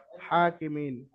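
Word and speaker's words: الحاكمين: হাকতের কাছে আহকামিল হাকিমিন হা এর উপরে খারা জবার দেখেন এর উপরে খারা জবার খারা জবার আলিফ মাদার সমতুল্য সুতরাং হাকে আলিফ মাদ্দার মধ্যে এক আলিফ পরিমাণ টান দিয়ে পড়তে হবে খারা জবার যেহেতু রয়েছে হা এক আলিফ টান হবে আলাইসাল্লাহু আহকামিল আহকামিল হাকিমিন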